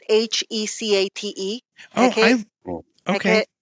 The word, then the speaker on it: Hecate: It's Hecate.